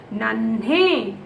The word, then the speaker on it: नन्हे: न हाफ न, ह पे ए की मात्रा है, नन्हे. न हाफ न, ह पे ए की मात्रा है, नन्हे. सी, नन्हे pronunciation, because half na, how you have to pronounce? नन्हे नन्हे.